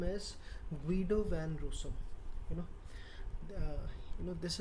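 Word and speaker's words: Guido van Rossum: author of python language even till date they pronounce this name as guido van russo you know you know this is he is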